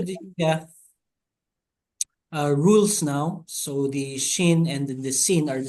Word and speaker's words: shin: So although the shin is pronounced as SH when the column is on the right side.